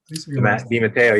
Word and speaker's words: DeMatteo: I probably butchered it. DeMatteo? DeMatteo, yep.